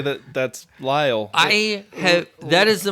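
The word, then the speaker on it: Lile: expected like 16 letters it's just it's Lyall it's is that how you what is l i l e I think it's safe to say that that's Lyall I have that is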